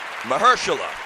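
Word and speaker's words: Mahershala: Before I go any further, Mahersula, that's the way you pronounce it. The guy's name is Mahersula Ali.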